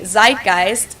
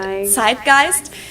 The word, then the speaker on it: Zeitgeist: Americans usually say zeitgeist. In German we pronounce it zgeist and this consists of the word which means time and gist which means spirit.